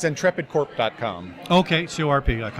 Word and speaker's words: Ntrepid: tre PID and is it intrepid calm its intrepid corp calm okay sue rpg-like um alright good